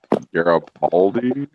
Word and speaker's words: Garibaldi: I'm not sure how to pronounce that second fish though, Rabbit. It's Garibaldi.